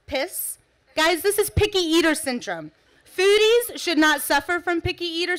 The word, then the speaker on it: PES: brings me to a very serious condition, PES, pronounced piss.